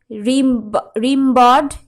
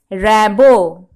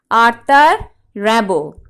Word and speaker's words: Rimbaud: So, right from the pronunciation of his name, it is clear to you that he is a French poet.